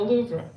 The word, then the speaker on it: Louvre: Um and of course Adventures in the Louvre or the Louv as I will be saying because I'm going to stick to my American pronunciation for French.